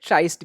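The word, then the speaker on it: tryst: ट्रिस्ट या फिर ट्राइस्ट भी कहते हैं इसको। आपको जैसा उच्चारण करना है कर सकते हो।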